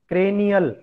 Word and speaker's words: cranial: क्रेनियल बोल के देखना है सबको, चाहे म्यूट करके आप बोल रहे हो बोल लो, क्योंकि बाद में प्रोनाउंसिएशन आप लोग गलत करेंगे। क्रेनियल, CRANIAL, क्रेनियल।